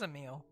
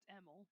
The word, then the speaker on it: Emil: Emil convinced him otherwise it is a meal he too went away with words to be honest I don't think I've ever actually heard it pronounced EML but I'll believe you uh wasn't there like